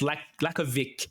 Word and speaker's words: Lakovic: Pronounced Lakovic.